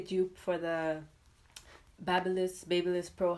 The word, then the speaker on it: BaByliss: is basically a tube for the babble is babyliss Pro how they pronounce that brand and yes it has titanium